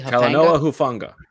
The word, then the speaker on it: Talanoa Hufanga: And then you look at I said their corners are not their strength, but the safety, am I pronouncing it correctly? Talanoa Hufanga.